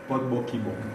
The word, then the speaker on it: Bokibom: Vous allez m'aider à mieux le prononcer. Bokibom.